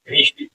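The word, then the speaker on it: wrist: देखिए उसके बाद ये क्या है, कलाई है हमारी, चिटिया कलाई है, कलाई क्या बोलते हैं, रिस्ट, RIST, रिस्ट, डब्ल्यू जो है साइलेंट होता है, रिस्ट मीन्स कलाई।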